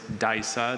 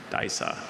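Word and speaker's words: Disa: The word is Daisa. This is a showy tropical African terrestrial orchid with tuberous rootstocks and dark green leaves. Daisa.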